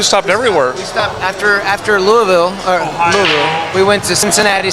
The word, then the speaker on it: Louisville: Say it right. It's Louisville. Louisville. If you say Louisville, they get really mad. It's Louisville. Yeah, Louisville. You gotta roll it.